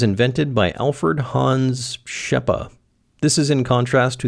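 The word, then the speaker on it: Rzeppa: apparently I'm also pronouncing rppa wrong I'm told the r is silent and also the Z is a sh sound which I've never heard before this joint was invented by Alfred hans's sh shepa this is in contrast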